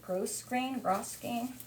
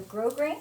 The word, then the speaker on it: grosgrain: Gross grain? S is silent. The S is silent, so grosgrain? Yep. Okay, so it's a grosgrain.